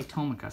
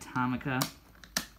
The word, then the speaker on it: Tomica: town or tamaka town a lot of people say tomoka so then it rubs off on me i don't like saying thomas it's actually tonica well i mean it depends on how you say it but i think it's said tomica about no for sure